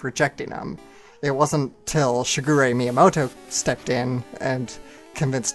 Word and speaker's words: Shigeru: for Satoshi Tajiri and Shigeru Miyamoto. Exactly. Tajiri sees See, Miyamoto as he even says it wrong. It's Shigeru. Shigeru.